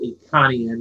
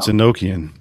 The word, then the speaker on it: Enochian: Not Iconian. It's Enochian. Enochian.